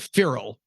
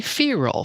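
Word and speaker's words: Feral House: I say a lot you I say I pronounce it feral I which I can't understand Adam parfrey who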